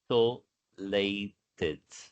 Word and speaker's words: isolated: Ó, isolated. Isolado aparece com isolado em português, a escrita, né? Mas a pronúncia é isolated. Esse S com som de S mesmo, não é como em português.